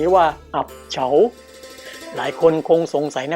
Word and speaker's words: อับเฉา: ว่า หิน นะ ครับ คำ ว่า เอี๊บ คน ไทย ออก เสียง เพี้ยน ว่า อับ ส่วน คำ ว่า ชึง คน ไทย ออก เสียง เพี้ยน เป็น เฉา นะ ครับ ส่วน คำ ว่า เสก ซึ่ง แปล ว่า หิน หาย ไป เพราะ คน ไทย นิยม เรียก แค่ 2 พยาง หน้า พอ คน ไทย ออก เสียง เร็ว ๆ ก็ กลาย เป็น อับ เฉา ไป โดย ปริยาย